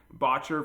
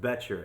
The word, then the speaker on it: Boettcher: am really excited today to talk to botcher from Austin vintage guitars how you doing pretty good actually it's pronounced beter and that something that happens all the time